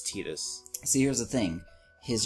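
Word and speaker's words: Tidus: name Titus right uh people getting these arguments over whether his name is Titus or Titus no it's Titus see here's the thing his Japanese name is Tita which would be like Titus but right there happens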